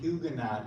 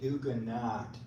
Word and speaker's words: Huguenot: a madeup name for every person that pronounces it Hugo three pronounce it hugenot and the society the hugenot society in Charleston South Carolina they pronounce it hugan not they say that it's